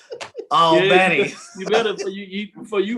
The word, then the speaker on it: Albany: I gotta pronounce it right. Albany.